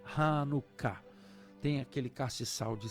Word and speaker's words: Hanukkah: Chanukkah, que escreve e pronuncia Hanukkah.